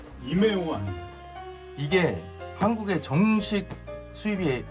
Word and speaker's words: EMEO: 이름은 에미오고요. 이메오 아니에요? 이게 한국에 정식 수입이 지금 안 되고 있기 때문에 한국에서 정식으로 에미오라고 할지 이메오라고 할지 아무도 몰라요. 근데 외국 영상들을 보면 발음을 에미오라고 하길래 일단은 에미오라고 하겠습니다.